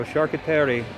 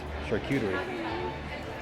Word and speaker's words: charcuterie: So charcuterie. Charcuterie. Charcuterie. Charcuterie. The correct way to pronounce that.